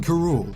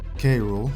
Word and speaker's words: K. Rool: to a certain someone King Kuru or kru they've used both pronunciations to varying degrees is the leader of